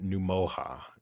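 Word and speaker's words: Ngumoha: enough so and then num MOA is is how you pronounce it Nick what Nick what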